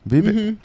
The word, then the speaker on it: Vivek: it cuz there's so um how do you pronounce that is it Vivic ramaswami Vivic yeah so he was on The Breakfast Club